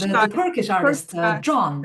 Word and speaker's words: Can: John, whose John. name spelled like C-A-N Can.